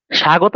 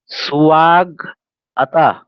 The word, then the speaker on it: স্বাগত: স্বাগত যখন উচ্চারণ করছি তখন এটা উচ্চারণ কি হবে স্বাগতা, স্বাগ আতা। আবার বলছি স্বাগত, অনেকে হবে স্বাগত এভাবে উচ্চারণ করে না, স্বাগত, স্বাগত এভাবে উচ্চারণ করতে হবে।